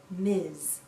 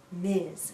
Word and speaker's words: Ms: we pronounce this as Miz Miz sounds like a z at the end Miz a woman can choose